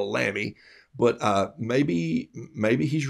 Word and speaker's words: Lamy: i'm gonna grab a lami this is my uh german uh pronounced and john robert small says lommy like mommy for years i called it a lamy but uh maybe maybe